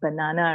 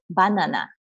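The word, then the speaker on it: バナナ: Okay, now in English, we pronounce this as banana, right? But you cannot say banana in Japanese, you have to say banana.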